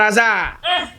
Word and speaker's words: hasard: Est-ce qu'on peut écrire le mot hasard par hasard ? C'est pas possible parce que pour écrire le mot hasard même là il y a un hâ muet qui ne se prononce pas mais il faut l'écrire